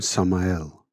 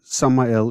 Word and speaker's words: Samael: In Hebrew, the name Samael is spelled Samech Mem Aleph Lamed, from right to left. The first two letters are Samech and Mem, making the sound Sum.